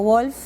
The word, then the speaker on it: Wolff: No sí totalmente Sí mi papá fue Federico Wolf si lo pronunciamos en alemán y sí fue un